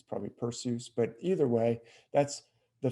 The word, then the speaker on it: Perseus: constellation pursues or perseus some people pronounce it perseus i've you know heard from greek experts that that's a that eu is a diphthong like in zeus we don't say zeus so it's probably not perseus it's probably pursues but